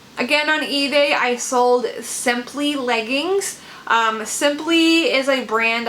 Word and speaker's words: Sympli: It's spelled simply that way, so I at the end, and they sold for $32.